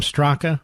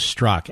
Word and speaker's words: Straka: It's spelled Straka. People have been calling him Straka, but his name is Straka, S-T-R-A-K-A.